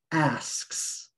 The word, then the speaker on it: asks: target word okay so the word asks asks is one syllable one vowel ah three consonants you have a s right s right asks that's four sounds one vowel three consonants asks one syllable if you accidentally leave out the first s sound asks will sound like x a word like fact